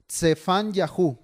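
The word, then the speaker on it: צפניהו: no haya confusión primero el nombre sofonías en hebreo empieza con ts ts y para que lo quien lo esté anotando ts y se pronuncia se fan Yahoo cefán Yahoo con ts al principio cefaán Yahoo y significa Ja o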